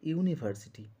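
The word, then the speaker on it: university: লিখলাম তার কারণ হলো ইউনিভার্সিটি ওয়ার্ডটা উচ্চারণ করতে গেলে ওই ওয়ার্ডটির শুরুতে এই ইউ সাউন্ডে উচ্চারণ হচ্ছে তাই ইউ সাউন্ডে উচ্চারণ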